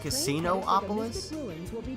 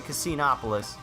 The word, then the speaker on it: Casinopolis: But I think they want you to pronounce it Casinoopolis. But I have trouble doing that, and I'll show you the spelling, because it looks like it's supposed to say Casinopolis. But this is the worst